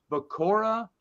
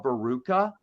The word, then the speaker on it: Bakura: But I do know that I tried to correct myself because Bakura, I used to call Baruka.